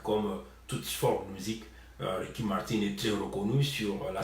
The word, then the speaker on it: Ricky Martin: Mais non, moi je l'appelle Ricky Martin, moi je prononce comme on le prononce, Ricky Martin en anglais.